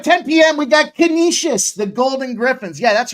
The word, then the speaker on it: Canisius: It's Canisius, not Canisius. It's Canisius. Canisius. You ever hear anybody call it Canisius, automatically discount what they know about that team because they don't know shit if you can't say it right.